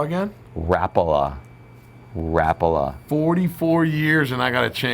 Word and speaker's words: Rapala: And you pronounce that how again? Rapala.